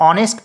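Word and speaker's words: honest: क्योंकि इसे हम लोग ऑनेस्ट पढ़ते हैं। और आप दूसरे तरीके से यह भी कह सकते हैं कि एच जो है साइलेंट है, तो ओ से ही शुरू हो रहा है, ऑनेस्ट।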